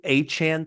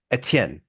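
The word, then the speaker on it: Etienne: Even in French, this new Achan thing, that's not how you pronounce his name in French. It isn't. In French, it's uh Etien. Not Achan. It's Etien.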